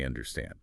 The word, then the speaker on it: understand: And that stress issue is key even for common statements like I understand. Absolutely. The main stress must fall on the last syllable. Understand.